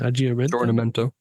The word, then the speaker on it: aggiornamento: And then the next one was the how do you pronounce that? Aggiornamento.